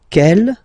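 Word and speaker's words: quelle: same way and then the feminine form is written like that q l l but it's pronounced like the masculine form Kell at the masculine Kell at the feminine okay so it's basically same pronunciation okay and then here we've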